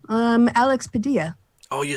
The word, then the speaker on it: Padilla: Alex Padilla.